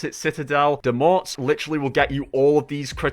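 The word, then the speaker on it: Citadelle des Morts: That's actually how you pronounce it. Citadel Demort literally will get you all of these critical hit kills for you without actually having to do much at all.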